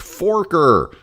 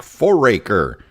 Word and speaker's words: Foraker: news reporter on television mispronounced the person's name and pronounced it Jack Forker. His name is actually Jack Foraker.